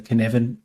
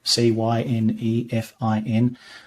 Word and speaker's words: Cynefin: my fave in this space, and that's the Cynefin framework, Cynefin. Hard to pronounce, hard to remember, but it's by a guy called Dave Snowden.